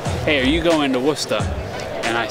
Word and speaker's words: Worcester: He goes, it's not Worcester. It's Worcester. Or however you pronounce it in the Boston accent.